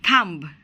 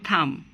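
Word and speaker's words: thumb: আমরা কখনোই বলবো না থাম্ব কখনোই বলবো না, বলবো থাম।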